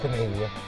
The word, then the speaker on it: Canada: Yes, it's Canada. I'm sorry, folks, but I'm not going to refer to any country with the last syllable of duh.